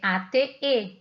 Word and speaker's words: ate: Que o verbo eat no passado é ate e se diz ate, igual ao número 8. Eles têm a mesma pronúncia, as duas palavrinhas que aparecem ali.